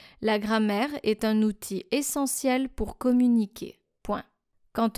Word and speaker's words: outil: Now, outil means tool. You should write it this way, O-U-T-I-L, but don't pronounce the final L.